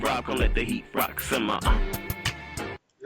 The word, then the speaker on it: RAQ: Well, this is Hey, this is Rock the Bell, spelled R AQ, pronounced R O C, co-host of the Working